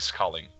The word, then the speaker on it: Schalen: É, mas pronuncia Schalen. Inclusive, é um, se possível, um toque. Toda vez que ele escreve o nome, todo mundo pronuncia Schalen, não. Schalen. O H é mudo.